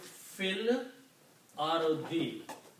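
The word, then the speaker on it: في الأرض: And when we read these together, we will not pronounce this alif, we will say fil ardi.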